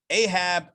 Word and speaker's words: Ahab: So I think in the English it's pronounced Jeroboam, Ahab, and Manasseh. However, it's Yeravam, Achav, and Manasseh in the Hebrew.